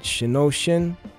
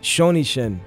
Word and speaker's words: shonishin: it right but it's is it shinoshin oh it's a shonishin okay which is acupuncture